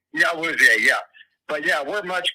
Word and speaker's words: Awuzie: We have much better corners, right now with, what's his name, Abui. I can't remember if I'm pronouncing his name correctly. Yeah, Awuzie, yeah.